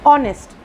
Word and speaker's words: honest: In honest, when we pronounce the word honest, we pronounce it from O onwards. The H is silent. The H is silent. So we say honest.